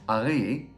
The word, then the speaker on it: Ari: I'm Ari, or as it's actually pronounced, Ari.